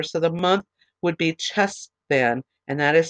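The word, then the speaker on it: Cheshvan: Now, this is the Hebrew calendar, so the month would be Chesvan, and that is spelled C-H-E-S-H-V-A-N.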